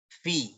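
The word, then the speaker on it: في: Nah, ya sekarang yang nomor 4 ini membaca adalah fi. Adalah fi. Kenapa fi? Iya, ini kan huruf jer yang bacanya pasti seperti itu. Fa-nya di kasroh, terus ketemu ya baca fi.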